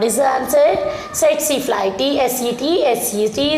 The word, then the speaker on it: Tsetse: Tsetse is silent.